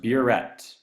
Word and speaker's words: burette: This is pronounced burette.